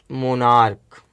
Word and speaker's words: monarch: Next question number 22, plural of the word monarch. Here ch is pronounced as k.